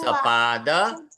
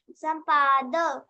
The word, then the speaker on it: सपाद: पांच ना ना ना, सुवा सपाद पंचवादनम। संवाद ना ना ना ना, पंचवादनम, सपाद, संपाद संपाद नहीं, सपाद पंचवादनम। संपाद ना ना, संपाद नहीं है, पंचवादनम, सपाद।